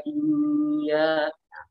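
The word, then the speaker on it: إِيَّاكَ: Tapi karena di sini adalah tasydid asli, maka yang terbaik itu bukan dengan ditahan, tapi ditinggikan suaranya. Maka cara bacanya iyyaka na'budu wa iyyaka, iyyaka. Jadi ditekan di sana.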